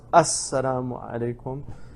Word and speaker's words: Assalamu alaikum: So it's pronounced Assalamu alaikum.